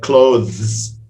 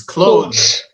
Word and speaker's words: clothes: If you say it slowly, the proper pronunciation is clothes. And then clothes. But even Westerners say clothes. I'm going to go buy some clothes. They don't bother putting the TH.